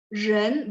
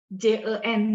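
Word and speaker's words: 人: Ren, R diangkat lidahnya, ditempelin di langit-langit, terus tambahin en.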